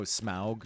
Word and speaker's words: Smaug: Not pronounced Smog. Oh, Smaug. You mean Smaug?